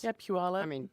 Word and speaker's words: Puyallup: there's a bunch of names around there that are interesting to pronounce. Mm-hmm. Well, it's kind of like Washington names. Yeah, Puyallup.